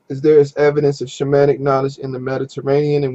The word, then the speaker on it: shaman: used by all cultures shaman is pronounced shah man and it comes from